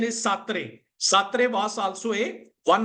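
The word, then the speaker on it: Sartre: Kad has said satre satre satre okay the pronunciation is satre satre was also a one of uh you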